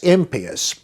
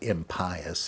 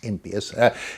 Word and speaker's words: impious: Uh, so if you're doing what they hate, that's impius. That is how you pronounce it. By the way, it's not impious, it's impas.